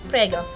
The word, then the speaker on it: Prego: Prego.